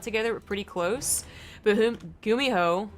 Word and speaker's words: GuMiho: But GuMiho, or Umiho, the G is silent, it's going for a double drop.